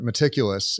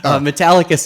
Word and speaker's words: Metallicus: what did you uh is it meticulous or is it metallicus metallicus is the company yes oh metallica so